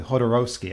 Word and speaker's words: Jodorowsky: With Alejandro, make sure I pronounce this correctly, Jodorowsky, I think is how they pronounce his name.